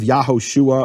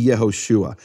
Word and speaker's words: Yahushua: from the emphasized syllable How do I know where this emphasized syllable is in Yeshua well because it can only be the final or second to last syllable only the possibilities in Hebrew you can't have yaho UA or yosua it has to be yahushua it becomes what's called